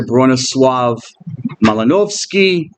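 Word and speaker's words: Bronisław Malinowski: functionalism is the Anthropologist branis melanowski or you could pronounce bronos swav malinovski he was a Polish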